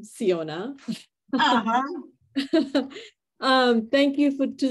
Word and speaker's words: Siona: yours thank you Fiona I am so glad to be rhyming with your name siona um thank you for